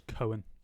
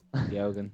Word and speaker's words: Keoghan: No, I'm going to say, I reckon you pronounce his name as Cohen. No, he said You Keoghan. definitely don't. Keoghan. Oh, you pronounce it every letter? That's how he says it.